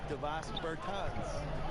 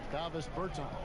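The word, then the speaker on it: Dāvis Bertāns: At this point in my life, it's Davos Bertans. Is that how you say his name? Davis Bertans.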